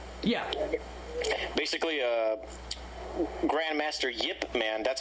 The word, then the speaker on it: Ip Man: the first film yeah yeah basically uh Grandmaster Yip Man that's how you actually pronounce his name despite how you spell it